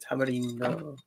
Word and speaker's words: tamarindo: You're trying to sound authentic. Tamarindo. That's how you say it.